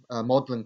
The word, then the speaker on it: Magdalen: this report that this college my maudlin college it's pronounced will be introducing classes